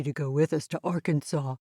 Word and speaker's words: Arkansas: whom french explorers called arkansas so arkansas is the way the french pronounced it and is closer to the native american word kansas is the english